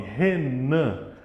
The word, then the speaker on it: Renan: Por exemplo, meu nome, Renan. A sílaba forte está no nan, no final.